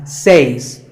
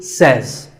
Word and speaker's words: says: number two is says this word is commonly mispronounced by people learning english as says but remember i say you say but he or she says number three is etc